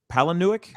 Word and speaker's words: Palahniuk: road trip called lullaby uh by i can't pronounce his last name properly but the guy who wrote fight club chuck palahniuk palinwick yeah that's right that's right milo neweck thank